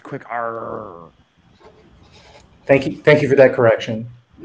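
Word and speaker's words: QUICR: I believe it is pronounced quick R.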